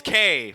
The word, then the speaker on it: Kei: It's spelled for the character name. It's Kei. Yeah. And then for the American English, it's spelled Kay.